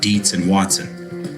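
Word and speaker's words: Dietz & Watson: Taste testers consistently rave about Deetsz and Watson. One test. Now, how do we spell it?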